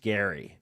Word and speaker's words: Gerry: it's Jerry, pronounced Gary, but it's spelled Gerry, pronounced Gary.